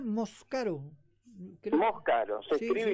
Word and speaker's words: Moscaro: Lo pronunciaba Moscaro, creo. Moscaro, se Sí, escribe y se sí. pronuncia igual, Moscaro.